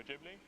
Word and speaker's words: Ghibli: comics, as well as Japanese animation, particularly Studio Ghibli. So Yeah, he pronounces it right.